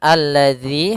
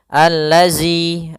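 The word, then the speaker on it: الذي: Kemudian alladzi, hati-hati dalam pelafalan zal. Di sini ada huruf zal, bukan huruf zai. Ya, kebanyakan kita kadang-kadang membaca huruf zal dengan huruf zai. Misalkan allazi, allazi.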